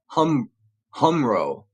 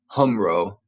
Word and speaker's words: HumRRO: be remarkably similar to what is taught at Humro. That's spelled HUMRRO.